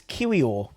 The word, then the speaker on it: Kiwior: with is Jacob yakub now I know how to pronounce it yeah it's kiwio I listened to the